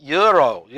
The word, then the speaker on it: gyro: Gyro? Gyro? Someone from Greece would probably say, no, that's euro, not gyro.